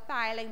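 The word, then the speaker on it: ptyalin: Because it is not until those molars appear that the thylane, it's called thylane, but it's spelled with a P, is developed.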